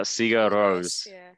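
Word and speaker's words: Sigur Rós: space oh yeah yes yeah how do you pronounce it uh sega rose yeah sega rose all right um listen to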